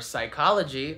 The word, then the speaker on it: psychology: Or psychology. That's a silent P right there.